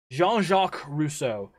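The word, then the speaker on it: Jean-Jacques Rousseau: so we'll get into our last enlightenment thinker jean-jacques russo j-o-n hyphen j-a-c-q-u-e-e-s face r-o-u-s-s-e-a-u for gilly we're gonna spell it all out for gilly every time now he wrote in 19 i'm seeing 19.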